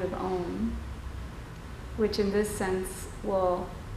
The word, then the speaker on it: Om: So the sound of Om sometimes is spelled O-H, is spelled O-H-M, and sometimes people say it Om, but the way Sanskrit works, it actually is Om, like O-M.